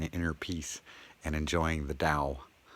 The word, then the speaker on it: Tao: Unless maybe, you're not used to sitting in inner peace and enjoying the Tao. Notice D pronunciation for the T letter.